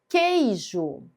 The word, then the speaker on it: queijo: Queijo, que u são duas letras que tem apenas um som de ígrafo consonantal. Eu não falo queijo, falo queijo. É como se eu não pronunciasse a letra U.